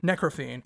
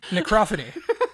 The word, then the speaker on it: Necrophony: It's like Necro Symphony combined. Necrophine. Sorry, I'm terrible. Necrophony.